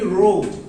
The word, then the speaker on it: row: Look, when it is in a meaning of a line, Q-U-E-U-E, Q, or a line, it is simply row.